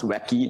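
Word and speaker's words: WACI: means I mean first it is pronounced as wacky in short and second it basically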